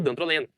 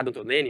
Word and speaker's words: dantroleno: nosso antídoto é ele, o dantroleno, tá? Dantrolene em alguns locais, mas assim é é a forma que se escreve regularizada aí pela nossa vista, tá? O dandroleno ou o dantrolene, que seria os antídotos, a